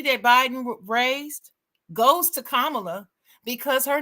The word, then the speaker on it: Kamala: have to talk about Kamala Kam kamla is her name that's how you say it kamla people calling her all kind of crazy stuff but it's Kamala and I'm like what